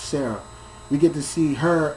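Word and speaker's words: Serara: say her name but her name is spelled s e r a r a but it's pronounced Sarah we get to see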